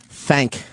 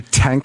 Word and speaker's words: thank: Thank. That was another thing. I don't think I pronounced the H in thank a lot. Did you just say tank a lot?